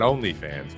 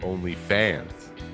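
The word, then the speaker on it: OnlyFans: up on only fans it's not only fans only fans only yes i'm putting the emphasis on the other syllable um only fans is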